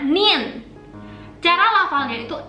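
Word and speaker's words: 니은: Kalau huruf ini bacanya Nien.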